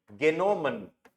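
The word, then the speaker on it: genommen: ऐसे ही Neyman, Neyman to take, इसकी तो अजीब ही हो जाएगी गेनोमन, गेनोमन, एच साइलेंट, एच गायब हो गया है ना, सेकंड फॉर्म में भी ऐसे ही होता है, गेनोमन, ओके।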